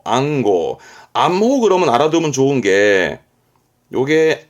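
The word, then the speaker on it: 暗号: 안지 안지 안시가 아닙니다 안지 안지 암호 암호 발음은 앙고 앙고 암호 그러면 알아두면 좋은게 요게 암증 번호입니다 우리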